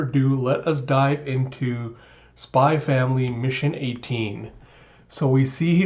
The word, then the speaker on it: Spy x Family: to be spline family because the X is silent so without further ado let us dive into spy family mission 18 so we